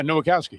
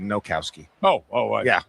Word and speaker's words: Nowakowski: Yeah, Nowakowski. It sounded like you said Nokowski. I didn't want to leave out an extra syllable there.